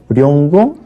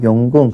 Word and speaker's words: 용궁: 룡궁, 룡자, 룡이 본음인데 룡궁 안하고 용궁 그렇게 발음하죠.